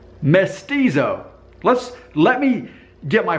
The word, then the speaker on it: mestizo: Mexico and countries south of the border are misty doe mestizo which I just mispronounced mestizo who is a person whose parents are one